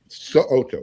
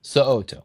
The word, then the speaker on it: So'oto: Make sure you pronounce that last name correctly, because he will correct you if you don't. So'oto, yes. So'oto, boom.